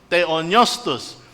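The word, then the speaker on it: θεόπνευστος: pala may problema ako sa teonostus pareho yan siya na silent pe kasi word two words meaning theos god and neo hindi siya pineo neo kasi silent pe nga po siya parang katulad ng pneumatology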